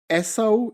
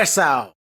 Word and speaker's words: Esau: So I don't know, how do you pronounce this? Esau. It's E-S-A-U. How do they say that? Esau.